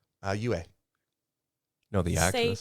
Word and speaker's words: Yue: I think she did a decent job for what she could, but more importantly, How do you pronounce her name? Yue.